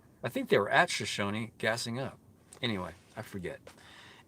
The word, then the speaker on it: Shoshone: It's not Shoshone, people. It's Shoshone. Shoshone.